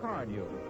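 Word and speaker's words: Carnu: It's spelled C A R N U. Johnson's car news.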